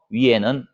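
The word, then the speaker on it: 鱼: 위에는 물고기 머리 부분이고. 그런데 왜 그러면은 중국인들은 풍요롭다는 의미로 물고기를 이렇게 와 관계된 인형이나 그림을 걸어 놓느냐? 물고기의 발음 때문이에요. 우리는 물고기 어자죠. 중국 발음으로는 위라고 합니다.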